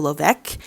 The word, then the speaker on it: Levesque: memoir by Joanna Jojo Lovec. Didn't know that's how you pronounce her last name until she said it. I thought it was like Levesque.